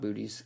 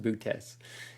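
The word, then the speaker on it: Boötes: Bootes, it looks like booties, but it's not booties. It's pronounced bootes.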